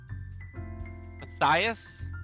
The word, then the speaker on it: Matthias: Matthias? Oh, the H is silent.